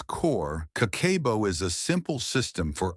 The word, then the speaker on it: Kakeibo: Meet Kakeibo, pronounced Kah-keh-boh.